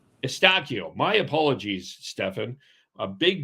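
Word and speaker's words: Eustáquio: Stefan Estakio. Estakio.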